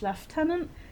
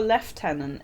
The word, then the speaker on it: lieutenant: one that confuses me you know Lieutenant leftenant I'm pretty sure left tenant is the English pronce iation of it and